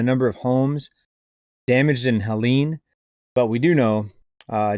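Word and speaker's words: Helene: video or was it two videos ago I pronounced the hurricane I think I said Helen it's actually Helen um if I would have watched more mainstream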